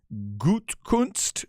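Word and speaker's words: Gutekunst: it's a man named Brian gutkunst I guess is how you say his name um that's g-u-t-e-k-u-n-s-t in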